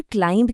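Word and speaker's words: climb: नियम वही है, अगर शब्द MB पर खत्म हो तो बी चुप रहेगा।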